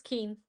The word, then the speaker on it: Kuhn: Did I pronounce is it Kuhn or Kuhn? How do you pronounce it? It's keen. Keen.